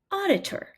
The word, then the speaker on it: auditor: three syllables and we have odd, iour, auditor. Notice that that second syllable is unstressed and represents the schwa sound.